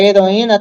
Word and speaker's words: heroína: tenho uma sílaba portanto a palavra heroína tem quantas sílabas hum três quatro quantas sílabas quatro né e in na tem quatro sílabas né E aí eu